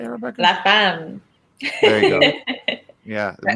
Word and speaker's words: La Femme: La Femme.